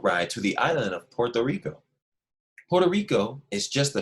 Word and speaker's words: Puerto Rico: That's how you say it with the accent, but we say Puerto Rico. Everybody say Puerto Rico.